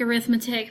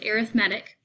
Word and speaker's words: arithmetic: These notes are on arithmetic sequences, and I know it looks like arithmetic, but it's pronounced arithmetic.